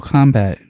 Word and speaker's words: Kombat: Just like when I say Mortal Kombat still sounds like a C even though it's spelled with a K.